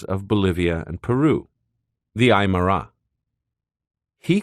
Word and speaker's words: Aymara: bolivia and peru the aymara he called them the emira elongating the name as if his pronunciation of it was the only accurate one in existence he said that the